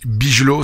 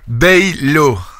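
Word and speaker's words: Bijlow: Bon voilà, Baylo. Voilà, quand c'est IJ, c'est hey, c'est comme Wijnaldum, non, c'est Wijnaldum.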